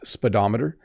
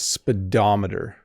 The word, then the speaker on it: speedometer: pronounce the syllables so the O in the middle does not make an o sound it's speedometer so it makes like an a sound right speedometer this speedometer says that